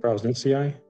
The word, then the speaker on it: prausnitzii: how do you actually pronounce it? F. privati? What is it? Prausnitzii. Prausnitzii, yeah.